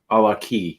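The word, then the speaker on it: GlenAllachie: A la key, not a latchkey. Glenn. He's always like mentioning how I pronounce everything wrong. It's inevitable. A la key. Inevitable. Glenn Allachie. Allachie. It's Allachie.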